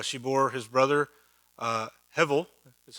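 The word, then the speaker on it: הבל: passage so uh she bore his brother uh hevel that's how you pronounce it hebrew means vapor like here today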